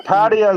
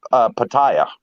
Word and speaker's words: Pattaya: Yeah, Pattaya is the way the Thais pronounce it. Foreigners pronounce it Pattaya.